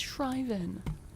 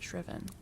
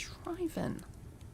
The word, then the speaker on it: shriven: head and pronounced it shven. Okay. It's shriveven. Well, today I learned. Yeah. Like drive driven.